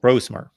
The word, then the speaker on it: Brosmer: whimet very different quarterbacks and then it's Max brosmer brosmer I want to pronounce his name correctly Max brosmer yes brosmer now that you've seen him on tape and